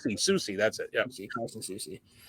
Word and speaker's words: Soucy: It's Soucy. Soucy, that's it.